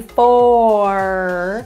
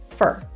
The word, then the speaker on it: for: they have fur so instead of saying for typically you will hear a reduction fur it's for me will often be pronounced as fur it's for me it's